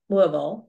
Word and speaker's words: Louisville: Printing House for the Blind, which is in Louisville, Kentucky. Well, they told me when I was there, it's actually pronounced more like Louisville, but that was hard for me to do, which is very close to Lexington.